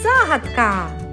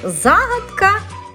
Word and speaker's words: загадка: слово і вийшло слово загадка до речі слово загадка в українській мові має подвійний наголос можна і правильно говорити і загадка і Загадка правила розгадування ребусів повторили